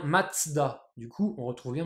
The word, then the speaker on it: Mazda: 7 t donc voilà ça en allemand ça se prononce bien matzda du coup on retrouve